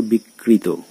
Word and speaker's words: বিকৃত: বলা হচ্ছে অন্ত অয়ের পূর্বে রফালা বা রিকার থাকলে সেই অয়ের উচ্চারণ ওকারান্ত হয়। এখন এখানে দেখো বিকৃত, তো এখানে অয়ের আগে